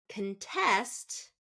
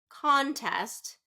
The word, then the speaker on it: contest: category of heteronym words so again two syllable words if it's a noun we stress the first syllable if it's a verb we stress the second second syllable okay that's a very